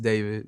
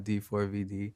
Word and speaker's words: D4vd: um pronounced David, not D4 VD.